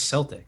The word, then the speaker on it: Celtic: sounds Celtic.